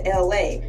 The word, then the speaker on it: Elay: First off, my government name is Ursula and I don't like it, so I switched it to LA, pronounced like LA, like the city.